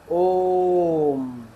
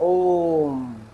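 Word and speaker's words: ओ३म्: यह ओम ऐसे पढ़ा जाएगा। यानी कि लंबा खींचा जाएगा। ओम।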